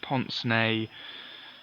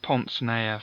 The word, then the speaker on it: pince-nez: Anyway, and it's pronounced pince-nez, I think, because it's French for pinch nose or something like that.